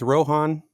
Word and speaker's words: Rohan: Is it Rohan or Rohan? Have I been saying it wrong the whole time? Okay, so it's Rohan. It really is.